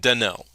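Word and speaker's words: Dan'el: So, it's more like Denell.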